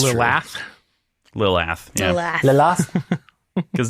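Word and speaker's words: Lilath: It's spelt Lil-ath, A-T-H. Do you guys still say Lilith? Of course. Yes. Yep. It sounds like Lilith.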